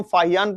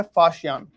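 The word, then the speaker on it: Faxian: अभी तक इसको हम फाहियान पढ़ते थे। लेकिन इसकी स्पेलिंग जो है वह इस बार एनसीआरटी में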